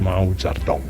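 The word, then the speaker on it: Mao Zedong: but you you actually write it but it's pronounced Mao zardon and German Mao was the father of the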